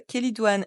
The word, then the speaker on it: chélidoine: Avec le che qui se prononce que, l'origine grecque du mot kélidoine ne fait guère de doute.